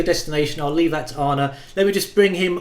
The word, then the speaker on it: Arne: I did for you when I pronounced your name Arnie by the way it's honor and we can come onto